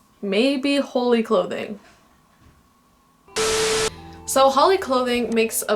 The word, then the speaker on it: Holy Clothing: from the future um I realized that I kept pronouncing it Holly clothing because that's how the other youtubers pronounce it alright so the first